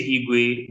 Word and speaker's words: Irigwe: Their is it irrig the R is silent just like you're trying to say igu but you put before okay okay so